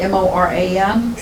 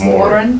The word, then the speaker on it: Moran: to, they told her she was pronouncing her name wrong. Because in Ireland, M-O-R-A-N is Moran.